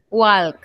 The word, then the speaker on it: walk: Anytime that you guys see the A, L, K sound, you don't have to pronounce the L, okay?